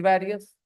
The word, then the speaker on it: various: So you pronounce it parents and people pronounce it various.